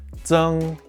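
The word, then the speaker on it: 增: This character is pronounced zeng and means increase.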